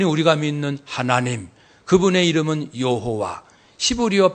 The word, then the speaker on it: 여호와: 그분이 우리가 믿는 하나님, 그분의 이름은 여호와, 히브리어 발음으로는 야훼. 한번 더 합시다. 야훼 하나님. 여호와는 이제 헬라어가 영어로 제호바 해서 우리나라 번역으로 여호와.